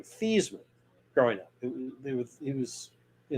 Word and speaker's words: Theismann: joe that said nope we're changing the pronunciation of your name this man because it rhymes with heisman which he lost to